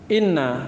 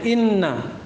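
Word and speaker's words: إِنَّ: Awaluha, yang pertama dari 6 huruf itu adalah inna bi kasril hamzati wa tasdidin nuni. Cara bacanya di kasrah hamzah dan di tasdid nunnya, inna. Ya kan bisa dibaca anna, bisa dibaca an, bisa dibaca in.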